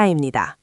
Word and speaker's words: 입니다: The b sound softens.